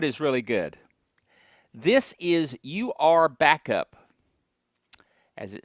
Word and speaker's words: UrBackup: This is UrBackup, as it says there on the screen. UrBackup. You could pronounce it Youre Back Up.